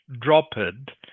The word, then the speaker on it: dropped: This word here, okay, the ending, the ed here is pronounced like a t for this word. So, it's not dropped.